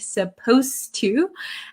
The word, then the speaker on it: supposed to: suppose and supposed to when we say supposed to it sounds like the D disappears but it's actually still there so be careful with